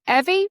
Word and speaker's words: Evie: today I'm speaking with Dr. Evie, rhymes with Chevy, Dr. Evie Cunningham, and she is the Chief Medical Officer at Cadence.